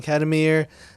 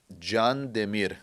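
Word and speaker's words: Kandemir: barista, Kadamir. Did I say it right? So it's actually pronounced Can Demir, and it's a long story, but the Ottoman Empire.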